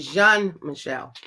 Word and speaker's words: Jean-Michel: I pronounced his name wrong. It's actually Jean-Michel.